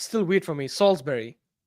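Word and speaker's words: Salisbury: still weird for me salsbery okay f f yeah but it's but it's written as salesberry which is idiotic you people are weird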